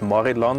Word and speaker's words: Morillon: do you call chardonnay in syria it's called morillon and it's not mori or anything fancy it's mauryland like we speak and it's only pronounced maryland in styermac it's very unique why